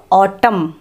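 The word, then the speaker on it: autumn: Spelling কি, এ ইউ টি ইউ এম এন, উচ্চারণটা হলো অটাম, ঠিক আছে।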